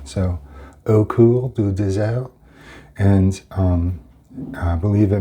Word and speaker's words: Au Coeur du Désert: Au Coeur du Désert. Um uh the French pronounce their Rs like Hs. So, that's Coeur du Désert Désert.